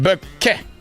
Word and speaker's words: Bouquet: It's pronounced bouquet.